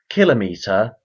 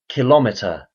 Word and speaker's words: kilometre: There are two common pronunciations for the word: kilometre and kilometre.